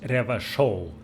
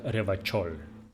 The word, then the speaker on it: Revachol: Okay, it's pronounced Revachol, not Revachol. If it doesn't rhyme, you're not pronouncing it right.